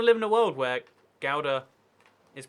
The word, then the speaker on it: Gouda: Gouda with the hard G.